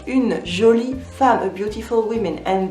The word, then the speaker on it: jolie: But we also say une jolie femme, a beautiful woman, and that's feminine, une jolie femme. So don't forget the E at the end of jolie, even though we don't pronounce it.